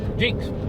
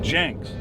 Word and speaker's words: Jenks: Jinx, where these boys are from. What? Jenks. Yeah. Jenks. You pronounce it wrong too. I do. I call it Jinx. Everybody says, is that J-I-N-X? No.